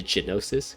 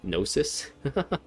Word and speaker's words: gnosis: just kind of gave up the gnosis the genosis gnosis so he's just like so even though he